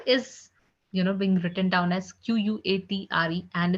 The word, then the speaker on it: quatre: Four is, being written down as Quatre, and it's being pronounced as quatre.